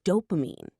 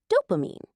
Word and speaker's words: dopamine: of a chemical called dopamine. Let's slow down on that word. It's an important one, and many people say it wrong. Good idea. Break it into 3 small parts. Do, pa, meen. Dopamine. Dopamine.